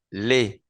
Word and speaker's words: les: Es el artículo, porque le singular se pronuncia le y el plural se pronuncia con la E del español. Les garçons, les garçons, le garçon, les garçons.